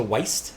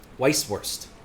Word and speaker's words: Weisswurst: add a T to Weist, but it's not. It's Weiss. Weisswurst. Or Weisswurst. But I want to add a T on the end of the first syllable. It's not right, but it's bugging me.